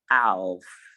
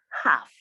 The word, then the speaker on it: half: have palm come half i did not say alf it is half and then we have